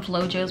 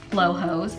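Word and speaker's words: Flojos: that's what they're told I used to call them Flo Joe's but they're actually pronounced Flo hos these are the perfect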